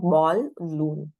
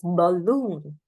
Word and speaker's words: balloon: this so bon bon it's not ballon right but it is balloon Bon now B is spoken quickly and loon is spoken for a longer period of time so it's balloon two syllables dress on the second syllable camel right caml camel